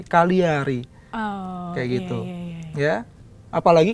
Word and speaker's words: Cagliari: Umpamanya, taruhlah, kalau orang baca biasa, Cagliari, itu salah satu klub di Italia. Ya, tapi kalau orang yang tahu, itu bacanya bukan Cagliari, Cagliari.